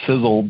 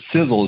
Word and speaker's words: Sisel: The Sizzle that you hear is spelled maybe a little bit differently than you may know if you're new to the company or if you're a guest tonight. But Sizzle is spelled S-I-S-E-L.